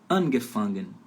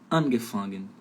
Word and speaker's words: angefangen: Então, aí é angefangen. Então, angefangen. Verbo separável, a sílaba tônica fica ali no prefixo separável, no comecinho da palavra, beleza?